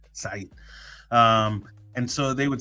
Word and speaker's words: Said: And I would never let First of all, I don't let them pronounce my name incorrect. So, I would always correct them and say, "It's Said. Said."